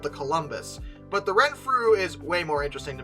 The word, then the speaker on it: Renfrew: Yeah, Renfrew. Okay. Honestly, I expected it to be pronounced really weirdly, but it really is spoken phonetically, so that's good.